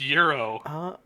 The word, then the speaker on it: gyro: It's called a euro. What? It's pronounced euro.